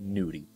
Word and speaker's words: gnudi: that you may have not heard of called Gnudi. No, no one's getting naked up in here. It's spelled G-N-U-D-I.